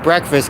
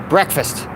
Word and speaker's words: breakfast: that's where the word breakfast came from it's stan it's break fast breakfast but we don't say it like that we say it all together we say it breakfast but it's actually it